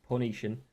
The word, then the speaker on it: Phoenicians: to come to power the founders of Carthage were Phoenicians however the pronunciation was closer to punishin and as an objective